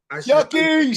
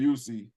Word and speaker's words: Yuccie: a tedious fix yep yucky shout out yucky man I've been saying your name wrong I've been saying you see look ever since I